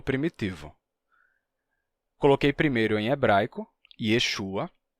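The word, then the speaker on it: ישוע: por assim dizer h Então vamos lá em hebraico a gente pronuncia isso normalmente como Yeshua Porque tem uma regra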